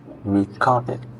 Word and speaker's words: recorded: Recorded. Okay. The ending sound e d, right? E d and after a d you have to say recorded.